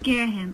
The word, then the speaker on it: Girahim: That's how I pronounce it, so... Okay, Girahim.